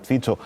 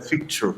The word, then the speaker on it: Fico: Eu chamo de Fico, eu sei que a pronúncia né, é Fico, mas por aí em língua portuguesa temos esse hábito de adaptar o nome.